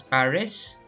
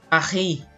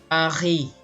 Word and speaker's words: Paris: They don't pronounce this as Paris, but Paris. Okay, again, Paris. Silent ang S, no?